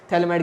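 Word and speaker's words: phthalimide: थैलेमाइड के अंदर P silent है।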